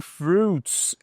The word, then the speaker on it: fruit: Agora nós vamos para bine fruits and vegetables. Só um detalhe aqui que a gente tem um duas dicas de pronúncia já que é fruit. Você não vai pronunciar esse esse i, tá?